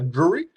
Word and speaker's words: Drury: his first game Blick he pronounces surname uh Drury jury but with the D he's priced that wanted